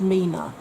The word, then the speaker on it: 3INA: I spoke, I think it was last time, about 3INA, which is pronounced Mina, which is another indie brand that are actually selling through ASOS.